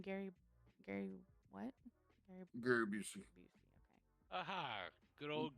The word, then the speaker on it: Gary Busey: Gary Busey.